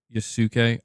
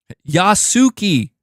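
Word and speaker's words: Yasuke: am saying it wrong I'm well I'm saying yuk oh okay I've been oh thank you thank you see my pronunciation debuffs you know Yas yasuki yep can you tell I'm American I cannot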